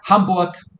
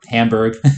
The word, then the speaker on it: Hamburg: Uh then Hanbuk or Hamburg the American/English pronunciation but Hanbuk spent two nights there